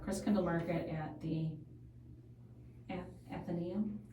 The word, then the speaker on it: Athenaeum: there was a Chris Kindle market at the Athenaeum. How do you say that? I say Athenaeum.